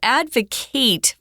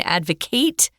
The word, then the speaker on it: advocate: just an issue um you would use a different pronunciation Advocate is the verb Advocate is the noun the person so they're going to